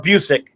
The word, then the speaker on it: Busiek: But the thing that catapulted the writer of Astro City, Kurt Busiek's Astro City, to stardom, or Busiek, he pronounces it Busiek, not Busiek.